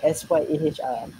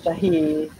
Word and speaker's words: Syahr: So, saya melayukan jadi SYAHR. Ada Ro. Jadi Syah. Itulah. Tapi dikenali dengan nama doktor, panggilan Doktor Syah. Ya, betul. Doktor Syah. So sebab ejaan macam tu, ramailah yang panggil saya Syahir.